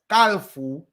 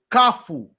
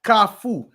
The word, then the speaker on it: Kafou: broke it down but basically you had people's pronouncing kafu as kalu k a l f o u and I corrected that I said kafu met kafu it means intersection okay am I doing it